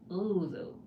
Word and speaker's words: Ozo: I don't know how to pronounce that first O in your name. Ozo. O like the ozone layer.